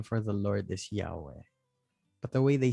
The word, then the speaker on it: Yahweh: Because you're supposed to say it with every breath. The H as being the exhale. So it's like I-ha-we-ha.